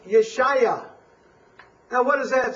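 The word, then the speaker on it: ישעיהו: salvation in the Hebrew Isaiah's name is pron pronounced yesaiah now what does that sound a little bit like Yeshua Yeshua exactly and it's essentially the same word referring to the Salvation of the Lord so yesaiah and Yeshua are very definite kin kinship words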